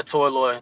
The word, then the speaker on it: Toyloy: Sweet, yeah, Toyloy. That's how you pronounce it.